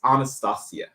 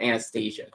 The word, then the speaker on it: Anastasia: Well, no, because it's like the traditional Russian or Slavic pronunciation that is Anastasia, but instead of Anastasia.